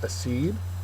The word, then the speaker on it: accede: First word is accede. Accede is a verb. The second syllable is accented.